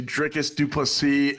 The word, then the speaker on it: Dricus Du Plessis: Yeah, go down to Twin Peaks to go see Dricus Du Plessis and Israel Adesanya scrapping it out at UFC 305.